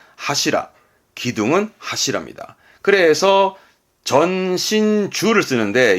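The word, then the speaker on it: 柱: 그러면 기둥을 의미할 거고 발음은 하시라.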